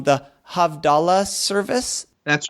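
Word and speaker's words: Havdalah: talks about the and forgive me if I pronounced this wrong the havdala service that's right yes now you pronounce exactly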